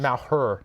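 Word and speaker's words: Malheur: I'm I'm being told it's the malur National Wildlife Refuge that's correct corre well okay I don't think that's how it's pronounced but yes that's what it is Mal her that's what they said on the on the mic yeah um so they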